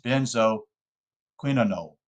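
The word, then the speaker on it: benzoquinone: you being in z-o-g start z-o-q u-i-n-o-n-e that's benzo queen or no synthetic and toxicity that he conjected as acts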